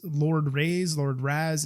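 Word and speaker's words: Ras: Kai and I guess it's Lord Ray's Lord Razz it's spelled r-a-s you have his bike that is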